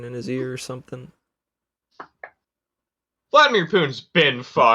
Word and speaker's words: Vladimir: his ear or something vladimir putin's been to get political political but technically it's vladimir not vladimir yeah the emphasis is on the second syllable i don't know why